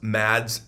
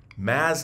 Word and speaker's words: Mads: want you to pronounce mad's name correct the d is silent so it's maz nicholson it's not mads nicholson it's maz nicholson i'll say that